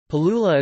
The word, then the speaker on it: Palula: Palula is pronounced as pa-lu-la acute, with three long vowels and a rising pitch on the final syllable.